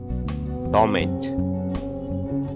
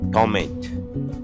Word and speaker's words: torment: Torment. Pronunciation note. The noun is pronounced torment.